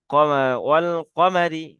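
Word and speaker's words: وَالْقَمَرِ: ঠিক আছে, ও লাম, দেখছেন এখানে আলিফ, কিন্তু এখানে আলিফ লেখাই আছে, হ্যাঁ, কিন্তু একে উচ্চারণ করা হলো না কেন? এটা এর উপরে কোনো জজম বা সুকুন বা কোনো জাবার জের পেশ নেই, বা কোনো তানবিন নেই, যার কারণে আলিফটাকে লেখা আছে কিন্তু ধরা হলো না।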